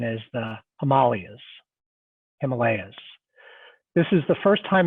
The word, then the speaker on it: Himalayas: But the reality is what you see beyond New Delhi in the background are I'm told the correct pronunciation is the Himalayas.